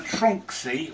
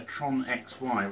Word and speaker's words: Tronxy: why I'm calling a trunk see although I've heard some people call it a Tron XY which doesn't make sense it's all one word and crease the pronounce